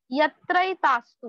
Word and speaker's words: यत्रैतास्तु: पूज्यन्ते रमन्ते तत्र देवताः यत्रैतास्तु कैसे प्रोनाउंस करना है इसको यत्रै तास्तु डबल मात्रा है ना तो अई बोलना है यत्रै तास्तु न पूज्यन्ते